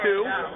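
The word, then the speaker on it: Sioux: Like in the word sue, spelled S-I-O-U-X, sue. Pronounced sue.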